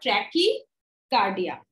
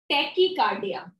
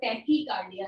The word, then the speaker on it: tachycardia: Is known as your ट्रैकीकार्डिया. टैकीकार्डिया not tracky, it's the tachycardia.